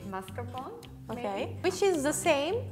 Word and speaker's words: mascarpone: ending like this okay try to say mascarpone with the r like do you hear how i said it right now more time mascara yes i can hear it but it's very fast yes it's just like a one roll okay mascara mascarpone your